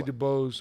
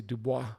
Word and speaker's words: Dubois: mike dubois dubois metalworks i taught mike dubois how to say his last name he used to say dubose which means the wood when i say dubois which also means the